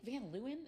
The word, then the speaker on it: Van Leeuwen: I like Van Leeuwen. Is that how you Oh pronounce it?